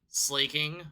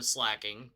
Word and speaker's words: Slaking: And with that, the team that we have given him is Slaking or Slacking, depending on how you prefer to pronunciate things.